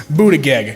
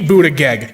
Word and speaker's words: Buttigieg: Okay, alright, I'm hooked on phonics style pronounce this last name. Buttigieg.